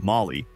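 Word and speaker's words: MOLLE: Finally, with the inclusion of its MOLA, pronunciation Molly, compatible ballistic nylon sheath, this one's easier to carry.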